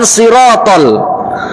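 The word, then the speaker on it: صراط: Contoh ketika pengucapan sirotol, maka dia harus tebal.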